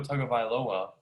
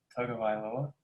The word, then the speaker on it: Tagovailoa: for Tua Tagovailoa. Is that how you say it? Falcons up 3-0. How do I say Tua's last name? How did you say it? Tagovailoa.